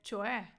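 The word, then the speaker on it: cioè: часто чуємо це є чое тобто чое дивіться не чое не там кое Окей чое з наголосом на е чое адето кевера домані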